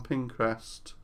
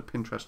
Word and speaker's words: Pinterest: just just like look at those boards on pinrest um or Pinterest rather Pinterest I always pronounce it wrong and it's been amazing it's